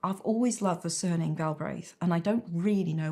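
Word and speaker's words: Galbraith: so I became Robert galra I liked the rhythm of it Robert galb is nice two syllables two syllables I like rhythm in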